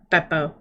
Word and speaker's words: Beo: do I notice uh Vio gone that is not how you say his name you say his name beo that's how you say